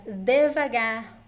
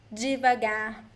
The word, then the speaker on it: devagar: The word devagar can be pronounced as devagar or devagar. Depends on the pronunciation, both ways are correct, okay?